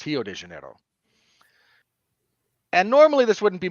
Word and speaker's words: Rio de Janeiro: quirk of Brazilian Portuguese words that start with the letter R are pronounced like H's in Brazilian Portuguese they don't actually call it Rio de Janeiro it's hio de Janeiro and normally this wouldn't